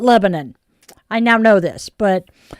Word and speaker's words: Lebanon: She pronounced it Lebanon. I Yes, it's Lebanon down in Oregon. The locals call it Lebanon.